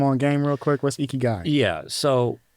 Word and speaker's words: Ikigai: I might butcher the pronunciation. I'm really sorry, y'all, but I say it Ikigai. Ikigai, yeah.